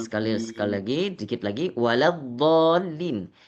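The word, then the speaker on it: ولا الضالين: Waladolin ini huruf lam adalah huruf yang tipis. Jadi, Pak Imam bacanya la bukan lo.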